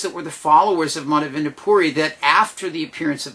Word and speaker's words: Madhavendra Puri: way that everything is very much connected now madhavan to poori is how you say he's essential in the